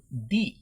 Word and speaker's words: the: হবে সাধারণত দা, আর শব্দের প্রথম অক্ষর যদি ভাওয়েল হয় তাহলে THE এর উচ্চারণ হবে দি।